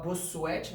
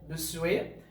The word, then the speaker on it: Bossuet: Então vocês falam Bossuet, mas pronuncia Bossuet.